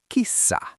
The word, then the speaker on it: kissa: Now, a very popular animal in Finland, the cat, that is kissa. Double that S.